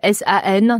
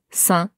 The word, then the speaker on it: 三: C'est pas ça, c'est san, plus un, san, san. Ouais, san. Ouais. Carrément. Ok. C'est vraiment vraiment comme saint pour moi, le saint.